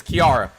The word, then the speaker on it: Chiara: Is Kiara. There's a bunch of words that start with CH that aren't pronounced ch.